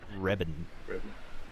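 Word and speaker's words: Wreben: it's spelt with a W. W-R-E-B-E-N. Webben. Reben.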